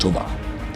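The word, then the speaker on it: טוֹבָה: Another important word here is tovah, pronounced tovah, meaning good.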